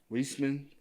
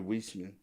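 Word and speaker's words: Weisman: He got uh It's like Westman's. It's hard to pronounce. It's W E I S M A N. Whisman. Probably Whisman.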